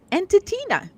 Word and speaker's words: Entitina: we started calling it, Entitina. You're welcome. Named by Ensign Keela, and it rhymes with Ensign Keela.